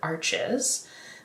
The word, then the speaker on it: Arches: using a paper called Arch watercolor paper it's spelled like arches that's how most people say it here in the US um but um and